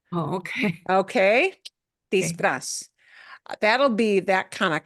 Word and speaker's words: disfraz: number 4, it said I used a word for costume, mi pongo el disfraz.